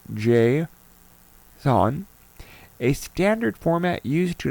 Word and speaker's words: JSON: You have to also have JSON which is the JavaScript open notation pronounced JSON.